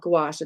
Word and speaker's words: gouache: Most people don't know how to say it, but if you ever see this word, it's called gouache. It's like a squash with a G in the beginning.